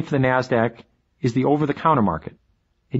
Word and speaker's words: NASDAQ: the New York Stock Exchange nysse and the NASDAQ which is pronounced NASDAQ NASDAQ stands for the National Association